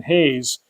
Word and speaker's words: Reis: He's Brazilian, so it's written Ivan Reis, but I think it's pronounced either Hayes or Hayes. The small language lesson here: in Brazilian Portuguese, maybe even regular Portuguese, if a word starts with the letter R, it makes an H sound.